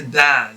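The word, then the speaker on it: ض: the difference is that to pronounce this letter ta you will have to apply a much firmer touch of the tongue against the gums behind the upper teeth whereas to pronounce it's half of the amount of the touch that or or the press that you press to say the letter ta use half of that amount or maybe a little bit less to pronounce the letter dad so same uh all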